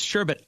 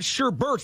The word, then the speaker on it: sherbet: you pronounce sherbet it's sherbet I work at hogen I it's not sherbet type in s sherbet it's not sherber there's not an r at the end s h r b